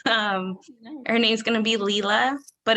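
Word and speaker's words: Leela: it's a girl um her name's gonna be lila but it's spelled l-e-e-l-a it had to be unique because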